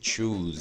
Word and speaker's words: choose: Olha esse choose, a pronúncia. 2 Os, som de U. Na imensa maioria das palavras, tá?